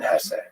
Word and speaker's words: Hesse: It was written by Hermann Hesse, and by the way, please allow me this pronunciation of his last name. I've heard some people say Hess, but my whole life I've always said Hesse.